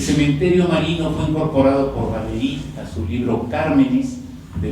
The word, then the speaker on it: Valéry: Como ven, mi apellido es francés y yo lo pronuncio en español, yo digo, entonces por esa razón digo Valéry también, que es como habitualmente